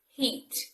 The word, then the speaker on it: heat: nine it should be heat heat and although it's a common word and it's a short word it's actually quite a tricky word to pronounce because of the vowel sound in the middle the e sound heat